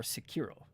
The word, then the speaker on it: Sekiro: Or Sekiro. Generally, it's the emphasis on the first syllable.